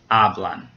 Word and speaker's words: hablan: And now hablan, it ends in an N. So remember we had to ask ourselves if it ends in a vowel, N or S. It does end in an N, so the second to last syllable gets stressed. Ah, hablan.